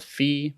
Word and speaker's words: phi: This one's called phi, P-H-I.